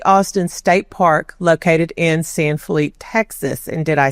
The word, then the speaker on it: San Felipe de Austin: State Park located in San Philip Texas and did I say that correctly the history of the town would be Spanish pronunciation so San Filipe day Austin but the modern Town